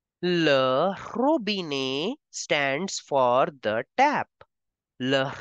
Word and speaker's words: robinet: It is ending with ET, so we have to pronounce the sound of A. Le robinet stands for the tap.